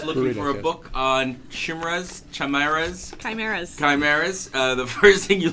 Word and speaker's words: Chimera: Let it be known from here on in, it is pronounced Chimera.